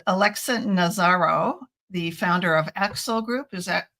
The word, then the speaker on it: Aaxel: I'm here today with a conference preview with Alexa Nazzaro, the founder of Aaxel Group. Is that pronounced correctly?